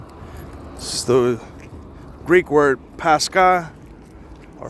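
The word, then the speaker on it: πάσχα: This is the Greek word Pasca or Pasra, however it's pronounced. Pronunciation Pasca.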